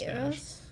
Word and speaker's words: caballeros: Caballeros. Yeah. There's almost a roll to the L.